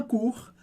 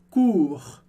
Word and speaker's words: cours: Un cours, um curso. E no final dessa palavra a gente tem o som do R do francês, que a gente pronuncia.